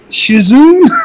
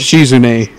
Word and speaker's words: Shizune: Shizuki? Shizune. Come on now. Shizune. I can't fucking pronounce it.